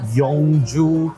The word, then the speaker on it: Yeong Joo: now I am at yongju Cafe it's not mistaken that is how you pronounce the name trying out their sarawaksa